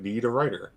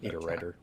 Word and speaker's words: Niederreiter: It's pronounced like Niederreiter. Oh, Niederreiter. Yeah. Do you need a writer?